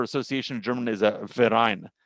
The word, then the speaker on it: Verein: The word for association in German is a Verein. The V is pronounced like an F. And this Verein sort of is tethered